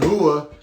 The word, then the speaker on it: Rua: to know that then the brazilians pronounce their r's with a hoof sound so it's mauricio shogun hua plus 150 underdog versus